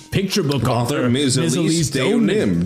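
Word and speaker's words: Deauxnim: Elise Donim. Donim is how it's pronounced.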